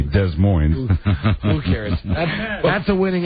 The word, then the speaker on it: Des Moines: Well, I really think they ought to pronounce the town correctly, Des Moines.